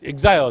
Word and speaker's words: exile: 读作 exile，哦，exile 是日本话，啊那正式的英语是啥？exile，哦，来 exile。重音在头前哦，Chinese government in exile